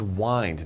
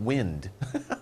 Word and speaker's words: wind: similar uh this is wind not wind okay spelled the same but different pronunciation twist means to twist